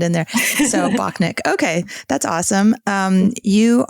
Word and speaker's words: Bockenek: you pronounce is it bakan neck or is it just Bok neck if people say it both ways so I I usually say Bach neck like I don't overly pronounce okay en neck that's